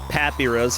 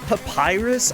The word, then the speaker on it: papyrus: podcast the other day they kept saying Pappy Russ and I've like died inside of like that's not how you say it after about five times